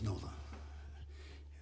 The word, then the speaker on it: NOLA: about NOLA everybody knows NOLA no that rhymes with Lola no the New Orleans